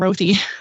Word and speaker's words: Rothy: Our Benton guy was saying Rothy. That's okay. Yeah, he has sometimes, he's British. What can you do? Yeah, doesn't pronounce so good. Yeah. Yeah, it's Rothy. It's short for Rothblatt.